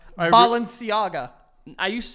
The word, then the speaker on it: Balenciaga: it right I really sang the name right Balenciaga I used to say Balenciaga no that's how